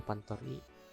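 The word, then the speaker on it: pantry: 1820 seperti ini nah pant ini bacanya pantori kita buat ruangannya lagi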